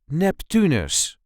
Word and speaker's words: Neptunus: This is the way we say Neptunus. Neptunus. There is a light emphasis on the second syllable, Neptunus. Neptunus.